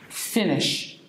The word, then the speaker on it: Finnish: Finland, it's Finnish. Finnish. Not like the adjective Finnish, but it's pronounced the same, but it's written differently. Finnish.